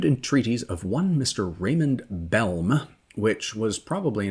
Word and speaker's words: Bellm: Raymond Bellm, which was probably a name that earned him some ribbing at school, as it's spelled Bellm. And if you say quickly, sounds like Bell, whose experience included quite